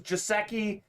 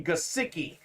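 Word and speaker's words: Gesicki: how to say this guy's name it's actually pronounced mike gosiki gesiki we thought it was jaseki joseki it's actually gasiki he's got the fins up talented dolphins tight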